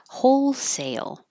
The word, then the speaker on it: wholesale: Wholesale. Wholesale. Sale is almost two parts. So say, your tongue goes very high and then it kind of slides down for a Y up to the L.